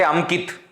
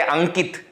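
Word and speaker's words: अंकित: Pronunciation you will change. You will not say Amkit, you will say Ankit.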